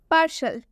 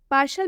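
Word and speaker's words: partial: पार्शल में जो टी है इस टी को हम श से पढ़ रहे हैं, तलाबे श से पढ़ रहे हैं। आप सुनिए अच्छे से, पार्शल। पार्शल में टी का उच्चारण तलाबे श से किया जा रहा है।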